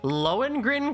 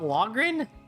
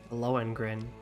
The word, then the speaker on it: Lohengrin: Lohengrin Castle, not Logrin?